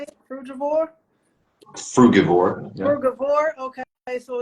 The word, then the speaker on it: frugivore: Frugivore?